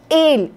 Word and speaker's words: él: Você jamais vai abrir a vogal porque tem acento. O acento, como eu falei, serve só para diferenciar um do outro. E aí, se os dois se pronunciam exatamente iguais, el coche está en